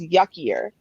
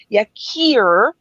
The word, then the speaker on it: Yakir: First of all, his name is Yuckier. Okay. Now, no, I know that's not how you pronounce it. You're supposed to pronounce it Yakir.